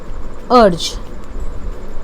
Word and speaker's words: erg: CGS unit of work is urge. Many people pronounce it as erg also, both are correct.